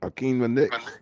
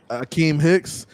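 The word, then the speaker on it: Akiem Hicks: Akeem Nick? Akeem Hicks.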